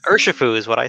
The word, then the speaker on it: Urshifu: Was it Urshu? I can't even pronounce it. I'm so bad at names. Urshifu is what I say.